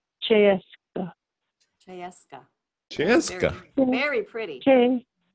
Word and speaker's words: Cseeszka: The first three letters, the C-S-E, that says you're American Che. So it's not as difficult as it looks. It's pronounced Cseeszka.